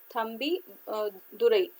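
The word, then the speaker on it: Thambidurai: ठीक है, सॉरी, ये एम तंबुदुरई, ठीक है, ये डेप्टी स्पीकर है 16 लोकसभा के, तो इनका थोड़ा सा प्रोनाउंसिएशन देख लीजिएगा, एम थम्बी दुरई।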